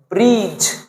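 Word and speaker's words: breeze: আর double E জেড ই এটা পড়তে হবে ব্রিজ বি আর ডাবল ই জেড ই শেষে যদি কোন ভায়োলের ই আসে তো ওটার উচ্চারণ হবে না শেষে কোন ভাওয়োলের ই আসলে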